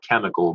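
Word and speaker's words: chymical: So today we call it chemical, but in the past it's spelled chemical, C-H-Y-M-I-C-A-L-L.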